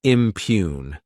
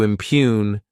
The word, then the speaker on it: impugn: Next is the verb impune. To impune, this word has 2 syllables, and the stress is on that second syllable.